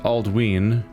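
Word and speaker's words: Aldwyn: Some examples: Aldwin is pronounced Aldween because of the long vowel sound on the Y.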